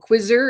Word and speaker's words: QZZR: There's another one called Quizzer, and it's spelled QZZR, and it's built for engagement and audience segmentation.